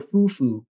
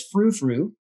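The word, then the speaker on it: Fou Fou: It was called Bistro Fufu. Fufu means crazy, crazy, right? But it meant that everybody in Traverse City, Michigan mispronounced it as frou-frou, which is a slang for fancy, fancy sort of thing.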